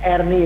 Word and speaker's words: Erni: Kemudian tidak ada ya Erni, itu biasanya Erni itu diucapkan nyaring E-nya ya, dengan E besar begitu.